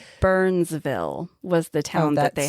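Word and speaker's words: Byrnesville: that they had to but it's spelled B Y R N E S B I L L E. So Oh okay. Burns like the name.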